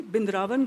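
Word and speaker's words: Vrindavan: She asked me in Hindi bindraan gayho. Have you been to Vindavan? But she pronounced Vindavan in a local way not the sanskritized way in which I'm saying it.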